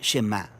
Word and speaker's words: Shema: La primera palabra del Shema es oye o escucha, y en hebreo se pronuncia Shema.